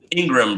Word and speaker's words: Ingraham: So Ingraham. Yeah, okay. It's like a graham cracker.